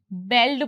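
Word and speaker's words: bald: अब देखिए ये इसकी प्रोनाउंसिएशन थोड़ी इंटरेस्टिंग है। यहां पे इसे इसकी जो स्पेलिंग है उसे हम बेल्ड पढ़ना चाहेंगे। पर एक्चुअली इसकी प्रोनंसिएशन होती है बोल्ड।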